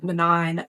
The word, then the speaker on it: Manan: And like we have all heard of um Selena, of Ailen, of Rowan, of man, Manan apparently is how you say it for whatever reason.